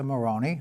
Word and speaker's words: Marrone: I'm your host, Sam Chase, and our guest for this show is Marrone. Hopefully I pronounced that correctly.